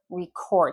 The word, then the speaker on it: record: Well, record is your verb. Record. If I'm stressing the second syllable, that's a verb, usually in English.